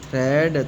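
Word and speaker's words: thread: तो इधर ए साइलेंट है। टी एच आर इ ए डी थ्रेड।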